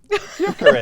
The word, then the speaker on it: Gyökeres: Gyökeres, that's how you say it, isn't it?